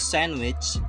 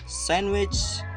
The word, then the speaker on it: sandwich: Yes, silent D, which we have three silent letters. The first is sandwich, and the second is Wednesday, and the third is handsome boy.